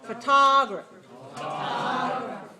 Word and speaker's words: photography: go to the ground make sure you get the small make it short long short just these first three syllables photography photography now add the